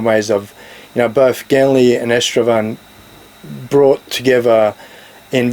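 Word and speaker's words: Genly: this linear narrative follows genre or gently the locus can't pronounce elves properly so they refer to him as genre but his name is Ganley so it follows this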